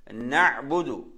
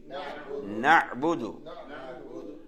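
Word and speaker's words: نعبد: அதாவது அதுல நீங்க நாங்க கவனிக்க வேண்டியது ஐனா ஐன் நல்லா கவனிக்கணும். நஅபுது எப்படி? நஅபுது நஅபுது. இந்த ஐன் சுக்குன் தானே, நல்லா அழுத்தி அழுத்தி அழுத்தி சொல்லணும்.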